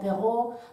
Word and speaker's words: Perrault: S'escriu Perrault, però es pronuncia Perrault perquè era un senyor francès.